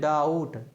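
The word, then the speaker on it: doubt: क्या बोलते हैं थम डीओ य बीटी इसको क्या बोलते हैं डाउट क्या बोलते हैं डाउट यानी इसमें आपने देखा कि बी क्या है साइलेंट है फिर इसी प्रकार आपको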